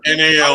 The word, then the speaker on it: Nall: Also, there's no silent K at the front of Ryan Null's name. It's just NALL.